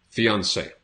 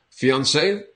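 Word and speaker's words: fiancé: are a fiance and the pronunciation spelling is a little bit different for men and women but the pronunciation is the same so fiance from French we still a lot of French words in English so fiance and then on the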